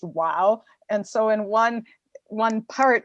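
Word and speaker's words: و: So I'm including Arab lettering, and like there's an Arab letter that's like W, and it's pronounced wow.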